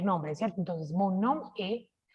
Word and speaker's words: est: Entonces, mon nom est, recordemos que acá no pronunciamos la S.